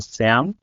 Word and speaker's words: SEAM: movement which is called C A M or in our pronunciation SAM which basically stands for student evangelical association uh in Macedonia.